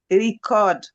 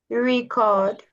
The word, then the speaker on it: record: Record for the first one and record for the the verb. Okay. Record. A record. That is the noun. Now record is the verb. To record is the verb. Record is the noun. So that's the difference between both. The stress is on re in